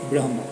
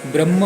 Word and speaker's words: ब्रह्म: वास्तव शब्द कसा आहे ब्र ह आणि म म्हणजे ब्र नंतर हलंत आणि म पूर्ण आहे पण याच उच्चारण करताना जणू काही म हलंत आणि ह पूर्ण आहे अशा प्रकारे त्रुटीत